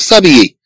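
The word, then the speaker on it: s'habiller: اذا نتكلم على لو فيرب سابيي في الاصل ديال هنا سو ابيي، سو ابيي. طبعا هاد اش كانها لا تنطق، وبالتالي كان هذا الفعل كما لو انه مبدوء بهدأ، اذا هو مبدوء بانفويال، وبالتالي تسهيلا للكلام سنحذف هد اه الخاصه بالسه ثم نضع ابوستروف فنقول سابيي بدل سؤابيي، بدل سؤابيي.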